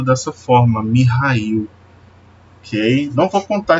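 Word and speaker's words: Михаил: Michael ele vem do Russo e ele é pronunciado dessa forma mihail Ei não para contar a história do meu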